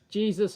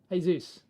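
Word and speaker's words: Jesús: go watch it either either pronunciation is okay jesus or jesus hey zeus afternoon yes it is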